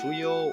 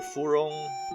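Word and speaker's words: 芙蓉: In Japanese or Chinese is pronounced fuyo or furong.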